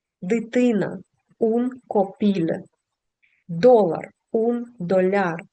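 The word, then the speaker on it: dolar: ун копіле долар ун доляр зверніть будь ласка увагу на наголос наголос падає кінець слова доляр син унфіу брат унфрате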